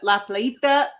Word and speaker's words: La Playita: We are reviewing La Plita from Tank Brewing.